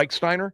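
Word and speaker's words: Rechsteiner: Is that how you pronounce it, Yep. Reichsteiner?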